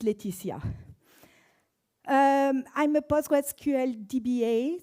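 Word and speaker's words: Laetitia: It's pronounced Leticia.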